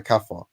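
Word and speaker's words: kafir: that Muslim refers to the slaves as a kafer they're calling them kafers because they're not disbelievers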